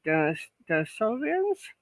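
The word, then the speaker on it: Denisovans: Well, and we human beings apparently stood side by side with Denisovians.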